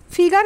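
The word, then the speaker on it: figure: নেটের বুননি তত ঢিলে ফিগার কথাটার ফরাসি উচ্চারণ ফিগুর অর্থ মুখের চেহারা ফরাসি অধ্যাপক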